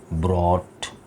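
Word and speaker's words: brought: Third form होती है ब्रॉट, ठीक है ना। इसमें जी एच साइलेंट है, क्या ख्याल है? इसमें जी एच की साउंड नहीं निकल रही है, टॉट और ब्रॉट।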